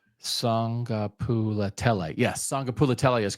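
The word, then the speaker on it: Sagapolutele: Okay, but so his second name is pronounced Kielve. Yeah, and then it's Sangapulatele. Sangapulatele. Yes, Sangapulatele is correct.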